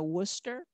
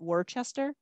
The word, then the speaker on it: Worcester: country i live near worcester which is definitely bostonian most people would call it worchester and that's really kind of how it should be pronounced but it's not um and so that's